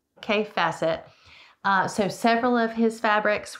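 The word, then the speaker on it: Kaffe Fassett: So it's kaif facet.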